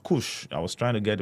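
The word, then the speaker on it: Kursk: All right, that is pronounced Kush.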